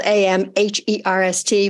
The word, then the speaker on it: Amherst: it's and it's spelled am h-e-r-s-t but once you've lived here for a while it's pronounced Amherst and you skip the H but actually living here